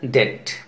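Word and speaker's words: debt: डी ई बी T, pronunciation डेट.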